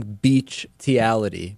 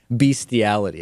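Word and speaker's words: bestiality: yesterday or beastiality and my pronunciation of it is actually Beach tiality I'm I think I am saying beity or something along those lines even though the correct pronunciation is beastality I will be Beach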